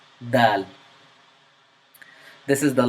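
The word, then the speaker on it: دال: This is the letter daal. It is pronounced from the tongue. It is characterized by the tip of your tongue meeting the top of the front teeth, but not the roof of your mouth.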